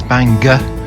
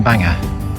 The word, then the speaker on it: Bangor: standing outside Bangor Castle I've been instructed to pronounce it as banga rather than Banger Marion tell us what